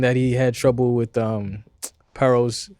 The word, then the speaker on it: Paro: Basically, and he was saying that he had trouble with Paro's. Excuse me, that's how you pronounce his name, Paro.